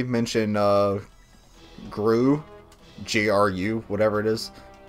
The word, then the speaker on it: GRU: G-R-U, whatever it is. They pronounce it GRU in Metal Gear Solid 3.